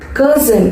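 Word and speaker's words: Curzon: கர்சன், இதுவும் ஒரு name தான். ஓகேவா, எப்படி ப்ரொனவுன்ஸ் பண்ணணும்? கர்சன். ஆர் அப்படிங்கிறது சைலண்டா ப்ரொனவுன்ஸ் பண்ணணும். கர்சன்.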